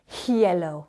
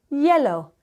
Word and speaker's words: hielo: And when you're asking for some ice in your drink, we don't say hielo. We say hielo. The H is always silent.